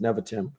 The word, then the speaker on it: Nevatim: Nevatim. That's how it's pronounced. Nevatim.